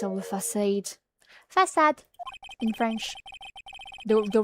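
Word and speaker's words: Façade: Have you played Facade? No, I have not. It's pronounced the French way in English too.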